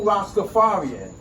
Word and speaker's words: Rastafari: You Rastafarian. Yeah. Proper pronunciation.